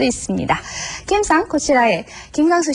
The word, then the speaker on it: こちらへ: 뒤에 해라고 썼는데 분명히 그렇죠. 그런데 저는 발음을 고치라에라고 했습니다. 이렇게 조사로 사용되는 경우 해가 에로 발음되는 것도 주의하셔야 됩니다. 자, 발음해 보시죠.